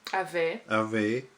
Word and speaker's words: avait: So avant, avait, toujours. A-I is pronounced A. E-N-T at the end. Avait. Yeah, is mostly silent.